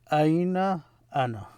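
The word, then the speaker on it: أين أنا: So aina ana, where am I? Aina ana.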